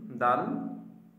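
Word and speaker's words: دال: তো দালটা দালের উচ্চারণের স্থানটা আমরা শিখে নেই। জিহবার আগা সামনের উপরের দুই দাঁতের গোড়ার সঙ্গে লাগা।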